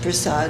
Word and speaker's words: prasad: Sometimes it's pronounced prasad and sometimes prasadam.